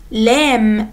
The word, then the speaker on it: lamb: خدنا letter L like lamp, leaf, lemon, lamb. وقلنا ان البي في كلمة lamb اللي هو الخروف الصغير مش بتتنطق silent.